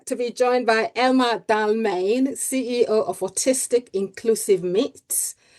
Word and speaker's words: Dalmayne: How do you pronounce your name? It's Dalmayne, isn't it?